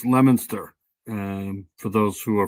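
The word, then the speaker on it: Leominster: The two So that's pronounced Lemonster. Um for those who are following at home, worked together for about 30 years. Officials say she was shot and that's Lemonster and right there.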